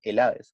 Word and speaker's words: Helades: Ojo, que a los griegos nunca se les llamó griegos, se les denominaba Helades, con acento en la E.